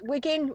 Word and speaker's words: Wigan: I'm from Wigan, and it's Wigan, as we pronounce it.